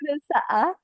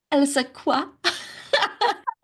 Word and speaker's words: Elsaqa: Here is Nour Elsaqa. Is that how you pronounce your name? I've never pronounced your surname. Nour Nour Elsaqa. Elsaqa.